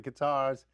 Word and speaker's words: Qatar: is in with the Qatars, I think that's how you pronounce it. That's not correct. Like a guitar, but Qatar.